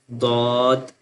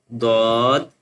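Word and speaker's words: ض: So swad ba and then thaw ba swad ba thaw ba And the next one is dwad alif dwad alif Now we join this one with alif.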